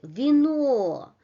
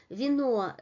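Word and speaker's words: вино: The pronunciation is the same as in alphabet, while in the first syllable, v, the unstressed vowel loses its quality, and it is pronounced in a very quick manner, and it is close to a short variation of e, vino, vino, vino.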